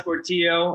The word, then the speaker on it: Portillo: right so i'm fortio and i'm from camarillo california you know i can't leave that place because it rhymes with my last name looking around except for